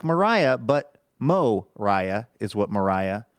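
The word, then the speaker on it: Moriah: Mariah Spicer of Chicago Illinois like Mariah but Mo Riah is what Mariah says in the pronouncer and Mariah just says this Andrew please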